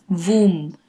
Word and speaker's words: womb: For some strange reason, B is silent yet again. Womb, no b.